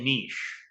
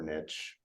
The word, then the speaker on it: niche: I say niche. I think it's either way. I prefer niche, but Yeah, it rhymes with bitch.